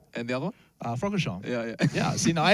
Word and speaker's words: Francorchamps: Francorchamps.